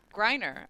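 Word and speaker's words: Greiner: knows I do Gloria grineer Lori yes it's Griner apparently no that's not how they pronounce it on QVC well on Shark Tank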